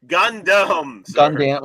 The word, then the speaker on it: Gundam: company typically sells more Gundam yeah it's pronounced Gundam I mean yeah I